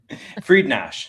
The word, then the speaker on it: Friednash: Friednash. So it's not that hard. yeah, but I hear all sorts of pronunciations over the years. Friednash, Friednash. It's Yes, as long as it's close, I'm not offended. Absolutely. Well, it is spelled directly Friednash. I mean, it's exactly spelled that way.